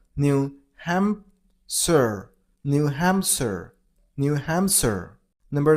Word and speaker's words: New Hampshire: New Hampshire. New Hampshire. You gotta stress on ham syllable, so New Hampshire.